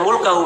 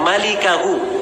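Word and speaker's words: مالكه: Itu bukan bacanya illa mulkahu. Memang mim lam kaf ha. Tapi bukan mulkahu bacanya. Bacanya illa malikahu. Cara bacanya malikahu artinya pemilik wajah.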